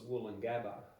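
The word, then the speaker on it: Woolloongabba: it's it's but it's not as cool as wool and Gaba like it's the most misspelled word in Australia it's spelled w double o double l double o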